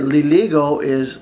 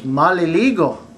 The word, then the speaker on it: maliligo: I said liligo means you're going to take a shower, but the correct way to say I'm going to take a shower is maliligo.